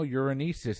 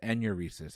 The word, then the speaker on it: enuresis: problem during childhood nocturnal uranesis is a medical term better known as what uh bedwetting that is correct and i mispronounce that it's enuresis i apologize you got